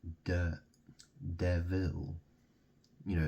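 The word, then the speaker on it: Deville: watches they're called de devil you know it's spelled D e v i l l e it's two words you know the Vil theil you like French or it sounds French doesn't it and it's like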